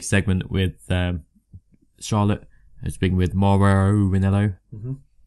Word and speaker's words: Mauro Ranallo: So after that we had a backstage segment with Charlotte speaking with Mauro Ranallo. Mm-hmm. You are saying it right, Mauro Ranallo. Mauro Ranallo. Okay, good.